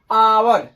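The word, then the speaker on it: hour: किसी स्पेलिंग में अगर किसी स्पेलिंग में किसी वॉवेल से पहले वॉवेल पंच होते हैं ए आई ओ यू आता है तो वहां ह का उच्चारण नहीं होता है अर्थात वहां आगे साइलेंट होता है जैसे एग्जांपल है अवर अवर ह ओ यू आर इसको पढ़ेंगे अनार ह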